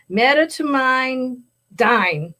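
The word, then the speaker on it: medetomidine: t o m i d i n e met toine dine sure all those letters but they're um it's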